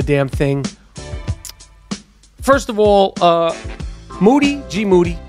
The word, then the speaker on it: GMoody: First of all, GMoody, last name rhymes with duty, hasn't been on the podcast lately.